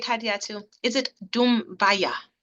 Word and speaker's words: Dumbuya: And she is, did I pronounce that right, Hadiatu? Is it Dumbuya? Dumbuya. Dumbuya.